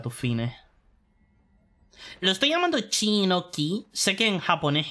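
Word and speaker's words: Qin: pronuncia chi por ejemplo la dinastía King q i n G en realidad es la dinastía chin Si ves un personaje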